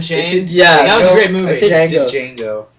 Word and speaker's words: Django: that a great movie Django Django that's how it's spelled the D is silent D I just want